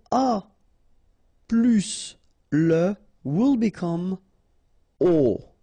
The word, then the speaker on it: aux: aux, okay, and then phonetically you produce it or you pronounce it o.